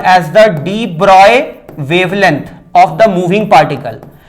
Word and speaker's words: de Broglie: So this is in accordance with de Broglie's hypothesis.